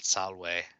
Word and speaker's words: salve: other languages they don't they often pronounce it slightly more of an english way for example uh i'm pretty sure i heard salve and not salway but you know they